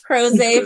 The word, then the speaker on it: Crozet: Crozet. Exotic Crozet, Virginia. Crozet, Virginia.